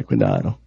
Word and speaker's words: cuidado: Yeah, cuidado. Cuidado. Ooh, that's turning me on. And yes. I speak Spanish, but she just not saying it right. It's cuidado.